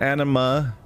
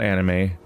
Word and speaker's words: anima: but yeah anime and anima it's not anime it's spelled like anime but with an A at the end replacing the e not after thee it